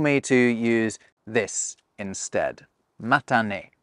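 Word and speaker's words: またね: Matane. Matane.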